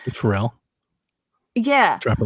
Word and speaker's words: Pharrell: Pharrell.